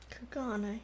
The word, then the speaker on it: Kugane: Kugane. Okay, that's how it's pronounced.